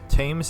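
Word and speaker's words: Thames: construction papers that was tames Haven that was T okay so we don't pronounce th's in in English English I'm not in good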